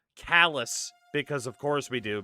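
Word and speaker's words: Calais: Well, in Maine, we have Calala, except we pronounce it Callus because of course we do because the French apparently.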